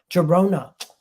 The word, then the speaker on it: Girona: this team for you gerona Girona Girona that's what it is Girona and then he moved